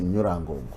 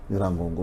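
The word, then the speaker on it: Nyiragongo: Bon, là, ça j'ai prononcé comme on le dit à Kinyarwanda. C'est comme ça qu'on prononce Massissi, Nirangongo, Nirangongo, Rutshuru. C'est comme ça qu'on prononce à Kinyarwanda.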